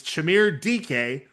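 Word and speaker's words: Chimere Dike: a 38-yard pass to Chimere DK. It's spelled much differently, but it's Chimere DK to get things going.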